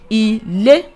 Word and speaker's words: ilé: Ilé.